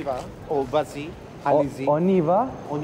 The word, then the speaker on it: on y va: Oniva. Oniva. We just walked into a metro store like as well. On, and then the Y, and then ba. So Oniva. Oniva. But all together.